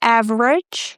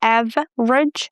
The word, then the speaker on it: average: So, the same with the words average. We drop the e, av rage. Average.